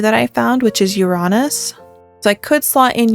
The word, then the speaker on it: Uranus: I might sell Uranus. And yes, it's Uranus, not Uranus. Different phonetic alphabets, different word pronunciations.